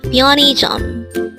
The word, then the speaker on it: 편의점: first syllable is a third syllable is Jump pronounce it with me pione the word pianism is a noun which means convenience store again